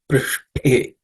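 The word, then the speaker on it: पृष्ठे: The next word is Prishthe. The second compound letter in this word, Shta, is the cerebral Sha. So the tip of the tongue should point towards the roof of the mouth.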